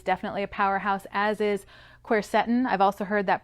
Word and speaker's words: quercetin: lipoic acid is definitely a powerhouse as is quercetin i've also heard that pronounced quercetin tomato tomato i guess now this particular supplement